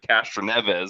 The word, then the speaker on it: Castroneves: The NASCAR had to make a rule just so Helio Cat I can't pronounce it Castroneves. Sorry if I You butchered said it. it right. You said it right. Okay, Castaneves.